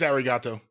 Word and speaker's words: arigato: It is arigato. It's just not pronounced the same way like they do in the Styx song, as Jace put it.